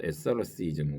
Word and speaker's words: asceticism: asceticism이라서 asceticism asceticism 그래서 t가 약간 묵음이 돼서 asceticism 그렇게 되는데요.